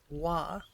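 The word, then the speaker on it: は: particle is wa, the letter ha, pronounced wa.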